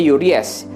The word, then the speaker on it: Uraeus: Mahkota Firaun ini namanya Uries. Tulisannya Uraeus, ya. Tapi kita bacanya Uries.